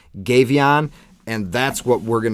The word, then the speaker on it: Gefion: series goddess's series and this is going to be gavon or gavon or geff there's a bunch of different PR pronunciations but I actually like and it's easiest for me to say gavon and that's what we're